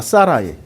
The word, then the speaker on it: 사라이: 발음 기호 해 놨잖아. 사라이. 사라이. 이걸 읽을 땐 사라이라고 있는 거야. 이게 아바음이야.